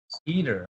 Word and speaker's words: Eder: should make one correction the name's actually pronounced eater eater okay i should have